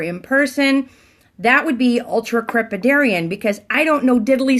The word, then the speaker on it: ultracrepidarian: Ultracrepidarian. Ultracrepidarian. That is the word of the day. So let's spell it out because it's a big, long word. Ultra, U-L-T-R-A, crepi, C-R-E-P-I, Darian, D-A-R-I-A-N. Ultracrepidarian.